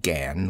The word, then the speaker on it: Gan: do you belong to she pronounced it Gan with only a suspicion of a nasal sound I laughed I'm not